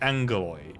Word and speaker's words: Angaloy: They're both correct, but obviously, yeah, they pronounce it Angaloy, even when it is written as Agaloy.